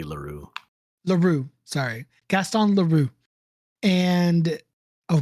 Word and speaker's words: Leroux: The X is silent, so it'd be Leroux.